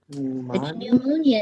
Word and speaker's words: pneumonia: having pneumonia oh okay pneumonia in itself is a trap word silent letters y'all silent letters I just think I